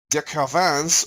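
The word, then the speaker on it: de Quervain: common form followed by de caravans or subacute thyroiditis bonus points should be pronounced it with an exaggerated French accent finally there's read else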